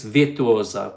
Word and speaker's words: Virtuosa: Keith has 250 days to go to their very first cruise on MSC Virtuosa. What is the correct way? It's Virtuosa because it's an Italian word.